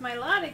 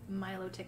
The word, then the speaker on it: Milotic: their own i suppose i feel like i want to pronounce it more like melodic you know like melody kind of thing so not milo tick and separating out the parts reverse cut and bernie